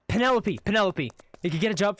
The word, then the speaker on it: Penelope: get a job from how much your name pronounced again penalope Penelope Penelope if you get a job from Penelope so